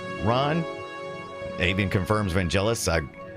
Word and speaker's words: Vangelis: Avian confirms Vangelis.